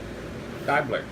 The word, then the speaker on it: Diebler: Oh, she said the E is silent. Dibbler. Yeah, so Diebler.